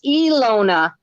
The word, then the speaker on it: Ilona: we're saying it wrong it's ilona okay iluna all right that's good now we know e lona melissa's sewing